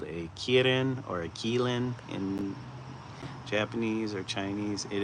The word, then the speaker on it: qilin: It is called a kirin or a kein in Japanese or Chinese.